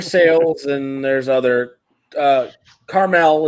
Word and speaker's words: Carmel: and there's other uh carmel is pronounced caramel um oh we suppose